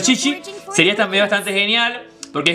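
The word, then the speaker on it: Qiqi: En español es Kiki, pero en chino se pronuncia Chichi.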